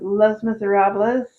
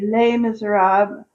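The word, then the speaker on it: Les Misérables: And I would say that would be Les Miserables. I always say it wrong. It's supposed to be Les Miserables, but I always pronounce it like it's Spanish.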